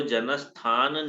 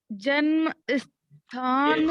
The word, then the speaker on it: जनस्थान: तो जनस्थान निवासिनी हो गया। फिर से बोलो इस शब्द को। जन्म स्थान जन्म कह रही है, जनस्थान।